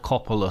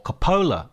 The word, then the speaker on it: Coppola: We're going to be talking about a path to paradise, a Francis Ford Coppola story, or Capola I should say.